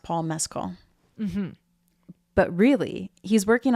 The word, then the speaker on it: Paul Mescal: So they say his name is pronounced Paul Mescal.